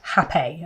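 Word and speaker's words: rapé: If you don't know what hape is, it's the thing that looks like it's spelt rape, R-A-P-E, but it's pronounced hape, okay, just so you know.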